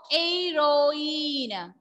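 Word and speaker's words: héroïne: And E is having like so A-U accent. So the pronunciation will be A. So, heroine.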